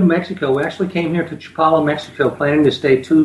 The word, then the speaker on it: Chapala: world really and and where is Joe Paulo is that how you pronounce it properly that's a great Chapala we're about 40 minutes